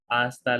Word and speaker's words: hasta: dios adios and again H is silent hasta luego see you later hasta luego hasta pronto see you soon